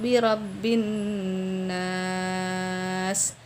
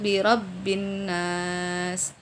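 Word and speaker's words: بِرَبِّ النَّاسِ: Contohnya qul a'udzu birabbin nas. Tetapi kita baca qul a'udzu birabbin nas. Nah, nun di sini kan tasydid. Ketika tasydid maka gunnahnya harus sempurna. Tetapi kita kurang memberikan gunnah. Nah, di sini ini juga termasuk kesalahan yang samar.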